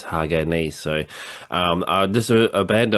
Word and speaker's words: Hagane: A lot of people commented saying it's Hagane, like split into three sort of parts. I thought it was like Hagane or something, but I guess it's Hagane.